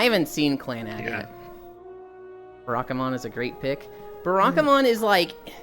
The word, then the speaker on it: Barakamon: really really hard bakaman no it's barakamon stencil said it right